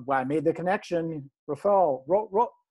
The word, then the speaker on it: Rephoel: brad show and why i made the connection rafael wrote how do you say your name again you got it perfectly that was it we're following my name is rifal i did it right yep yeah this is